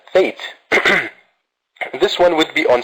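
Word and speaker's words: fete: So we can call it school celebration, which is also once again read as or pronounced as fate.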